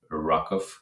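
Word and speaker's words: RWKV: not the case for RW KV which the authors intend to pronounce as rakov or some similar gal sound just keep it in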